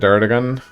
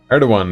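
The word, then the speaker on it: Erdoğan: that works amazing world skipping says you don't pronounce it erdogan they'd like are the one with a W not a G oh I didn't know that erdogan is how it's pronounced I have no idea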